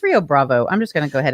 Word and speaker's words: Rio Bravo: daddy mendez uh we're talking about the movie rio brava i had no idea what this was [